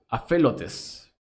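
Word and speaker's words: ἀφελότης: el griego 858 y se pronuncia a fe a felotes es propiamente sin rocas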